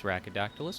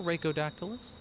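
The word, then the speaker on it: Rhackodactylus: For those of you who don't know me, my name is Rackodactylus or Reikodactylus. Either pronunciation is fine.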